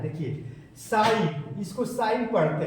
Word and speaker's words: sin: देखिए एक बार और बता रहे हैं, देखिए साइन, इसको साइन पढ़ते हैं, इसको क्या पढ़ते हैं?